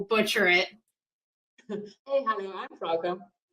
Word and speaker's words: Frauke: I have a special guest, and I'm going to let her pronounce her name because I will butcher it. Hey, hello, I'm Frauke. Frauke.